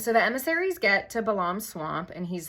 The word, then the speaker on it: Balaam: his name is balam I always heard it pronounced balum but I Googled the out of it and I'm like 92% sure it's balam so balam has one